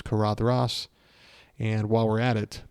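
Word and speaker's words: Caradhras: kadras I've always said kadras but it's kadas uh soft th like then and I think Christopher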